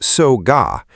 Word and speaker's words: Soga: The substation at Soga, pronounced Soga, that took power out across the city was not on a hilltop, either.